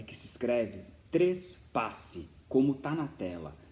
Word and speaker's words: trespasse: A primeira coisa a ser levada em consideração é que se escreve trespasse, como está na tela. Não é transpasse, não é trepasse, não é trapasse, é trespasse.